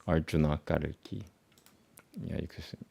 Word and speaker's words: Arjuna: So instead of saying Arjuna, they call me Arjun. And I was like, what the hell? And I was like, don't you see that it's not n, it's Arjuna, na.